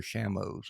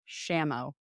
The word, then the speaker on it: Shamo: But as far as I understand, it is Shamo.